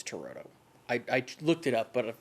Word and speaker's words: Turturro: Danny Aiello, Giancarlo Esposito, Spike Lee, Bill Nunn, John Turturro, I think is how you say it.